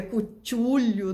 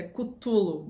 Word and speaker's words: Cthulhu: Não é Cutulho, né? Cutulho é Cutulo, mais ou menos assim que se pronuncia.